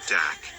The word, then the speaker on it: dak: This is where we get the name dog star for Sirius, from the word dog stemming from the Aryan word dak, pronounced similar to the German word dock.